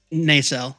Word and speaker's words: Nacelle: Nacelle, like in Star Trek, the nacelle, the port nacelle.